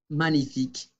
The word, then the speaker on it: magnifique: Después decimos magnifique, magnifique. La G no se pronuncia, magnifique.